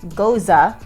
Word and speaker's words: Gose: Okay, what I would call a Geuze, G-O-S-E, pronounced Geuze.